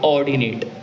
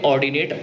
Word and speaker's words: ordinate: Axis पे होंगे इन points को बोलते हैं ऑर्डिनेट, ऑर्डिनेट, ऑर्डिनेट। फिर से सुन लीजिए, ऑर्डिनेट बोल रहा हूँ, ORDINAT। अच्छा, एक्स एक्सिस वाली को बोलते हैं एब्सिसा, एब्सिसा, इसको बोलते हैं ऑर्डिनेट, और इन दोनों के कॉम्बिनेशन को पूरे को